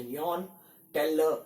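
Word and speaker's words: Jahn-Teller: which is known as Yohn-Teller distortion. The spell starts with J, which is silent, so it's a Yohn-Teller distortion.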